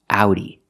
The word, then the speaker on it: Audi: we pronounce it differently we pronounce the Au like Ow like in words out now and how again the sound is ow so this word is pronounced Audi it's the name of